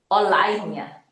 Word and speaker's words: align: 얘는 align이야. G 묵음이야.